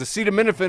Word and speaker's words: acetaminophen: It says, acetaminophen is easy to pronounce. The ending is like minnow-fin. And aceta sounds a lot like acida, as in acida Epstein files still haven't been released.